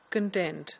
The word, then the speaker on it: content: circumstances you will use the pronunciation as content not content but when you mean the list of topics in a book then you will say contents so in a noun the stress is on the first syllable whereas in a verb the stress is on the second syllable this is a distinction